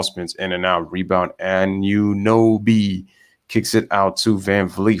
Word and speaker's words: Anunoby: Lawrence Chenkson's Anunoby. That's right. That's how we pronounce it.